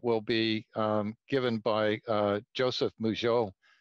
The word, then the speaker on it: Mougous: be given by Joseph Mougeot. He's reminded me that his name rhymes with Peugeot.